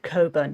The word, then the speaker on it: Cockburn: Oh, it's Coburn. Oh, I want to pronounce it correctly.